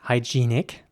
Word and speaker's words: hygienic: word in english now in british english it would be pronounced hygienic with a long e sound in the middle hy g nic hygienic and in american english it would be more like hygienic and once again the e at towards the end that is pronounced like an ä hygienic hygienic here's an example for